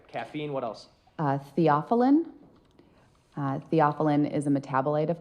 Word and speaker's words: theophylline: Theophylline.